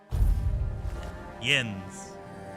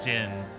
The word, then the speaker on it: Jens: Yens. Okay, not Jens. Yens.